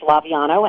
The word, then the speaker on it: Laviano: Just because my father would probably insist I'd say this, that, it's Laviano, and it's always butchered by people, so don't feel badly, but that's the Thanks for the pronunciation correction.